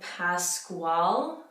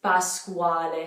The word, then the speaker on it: Pasquale: oh it's gentle gentle some other names that might be difficult our bus Quad Squad maybe we would have said Pasquale Pasquale they you put that egg at them you see when we see an e like the same thing with Dante we put an A at the end but yes it's bus squad so that qu makes a quo which shouldn't be too